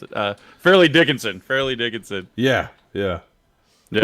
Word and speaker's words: Fairleigh Dickinson: How the hell do you pronounce it? Fairleigh Dickinson.